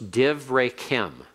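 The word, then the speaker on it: דִּבְרֵיכֶם: So it's divrekem, and it's a silent schwa. It closes the first syllable, makes it a short hirik.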